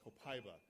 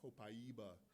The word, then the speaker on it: copaiba: of the Border because South of the Border I have to pronounce it a whole different way and they get very upset when you call it copaiva but down south in Mexico City and and further south they call it copaiba but we'll call it